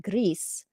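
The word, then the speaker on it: Gris: was in Spain so I looked up how you pronounce it in Spanish and so I pronounce it Greece right that's how you pronounce it in Spanish now re or without the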